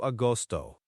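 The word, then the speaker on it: agosto: Is it austoto or austo? It's closer to austoto. The go here is like the G in go.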